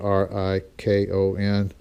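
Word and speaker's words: Rikon: can't say for positive this was made by recon or fsociety pronounced at ri Kon but it's identical in almost every way the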